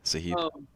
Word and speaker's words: Sahib: This is Sahib. Yeah, Sahib. There we go. So accenting the second syllable there.